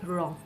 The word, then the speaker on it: wrong: If W comes at the beginning of the word right after the letter R, W is silent in the words like wrong, WRONG, wrong.